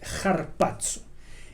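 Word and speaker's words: ἁρπάζω: diferente para el arrebatamiento se usa la palabra heart paso ahí está con él se debe pronunciar con una jota en griego es un espíritu rudo no voy a meterme a explicar qué es eso pero se debe pronunciar más bien como una jota carpaccio y significa arrebatar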